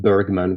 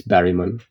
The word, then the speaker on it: Bergman: It annoys me when people announce his name Bergman because it's it's Barryman like that. Or as far as my Swedish knowledge tells me that's how you're kind of supposed to pronounce it.